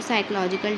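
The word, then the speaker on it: psychological: can also lead to साइकोलॉजिकल disorder यानी social media के जरिए साइकोलॉजिकल डिसऑर्डर्स भी होते हैं साइकोलॉजिकल डिसऑर्डर का मतलब होता है जहनी बीमारियां ये पीस में साइलेंट होता है यहां से हम इसको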